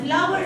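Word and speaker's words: flour: got the point so the both of them are pronounced flower but one is countable and one is uncountable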